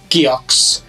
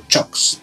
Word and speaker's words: Cioks: Finns would call it CIOKS, but apparently that's how you pronounce it, so CIOKS.